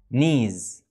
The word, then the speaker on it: knees: ودلوقتي تعالوا نقول كام جملة عشان نتمرن اكتر عن النطق الصح. I have two knees knees.